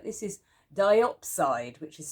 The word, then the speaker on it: diopside: This is diopside, which is spelled D-I-O-P-S-I-D-E.